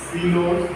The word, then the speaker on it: Sylow: आपके लिए देखिए सिलोज, जिसे आप साइलो बोलते हैं, है ना, बट साइलो होता नहीं, प्रोनाउंसिएशन इनका सिलो है, CSEELO, सिलो।